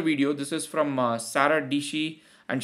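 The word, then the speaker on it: Dietschy: This is from Sarah Dishi, and she says rhymes with PC.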